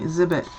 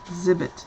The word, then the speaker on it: Zibbet: If you follow me, Zibbet, yeah. Zibbet, Z-I-B-B-E-T.